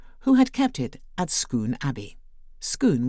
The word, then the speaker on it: Scone: had kept it at Scone Abbey. Scone, which is spelt like the baked afternoon tea delicacy, but pronounced Scone, is a block of